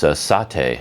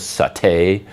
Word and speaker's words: satay: I think there's a British and an American pronunciation, like where the emphasis goes, satay or satay. I think satay is the British and satay is American.